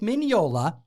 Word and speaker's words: Mignola: hellboy in its pages mike mignola get it right the g is silent he's italian he was invited to